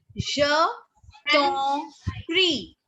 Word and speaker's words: je t'en prie: Write down the pronunciation. De rien. De rien means it's nothing. And ma'am, the second line. Second line. Je t'en prie.